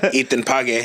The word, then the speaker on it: Ethan Page: I mean, I said his name wrong. It's Ethan Page.